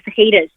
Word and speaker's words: fajitas: That the J is silent in jalapeno and fajitas.